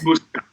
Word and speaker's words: Muscat: Oh, how is it pronounced in a more Italian way? Muscat? Muscat.